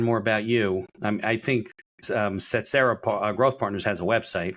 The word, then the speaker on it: Tsetserra: So if people want to learn more about you, I think Setsera Growth Partners has a website, right?